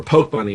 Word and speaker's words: Pokebunny: Now, Pokebunny was making an interesting point, or Poke Bunny, my bad. I just learned how he actually likes it pronounced. It's Poke Bunny.